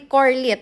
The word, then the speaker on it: Corlette: And she's actually Corlette, but I'd like to pronounce it Carlette.